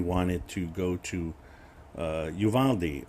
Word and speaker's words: Uvalde: to go to uh yuvaldi or uvalde as it's like i guess it should be pronounced uvante but uh it's been anglicized i think to some extent so you know it's